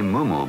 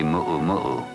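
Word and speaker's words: muumuu: momu for your sister visitors say Mumu but it's spelled with four U's and the natives say muo muu they come in a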